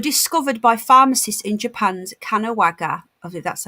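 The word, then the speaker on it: Kanagawa: black particles were discovered by pharmacists in japan's kanowaga that's how you say it prefecture on the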